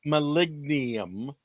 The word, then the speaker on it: molybdenum: Molybdenum.